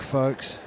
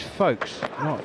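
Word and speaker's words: Foakes: It is quite disconcerting because you know the U and the L are irrelevant. It's Folkes, not Folks.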